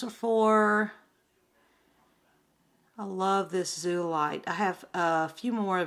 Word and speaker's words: zeolite: I'm not saying it right, zeolite. It's zeolite.